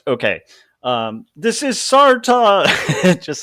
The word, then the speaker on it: Sartre: It's there's one of the classic existentialists, and I always mispronounce his name, Sartre. Sartre. Okay. This is Sartre.